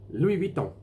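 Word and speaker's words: Louis Vuitton: around Lou my knee Louie Vito Louie don't the French had a bit different than air they soften the V it'll be a most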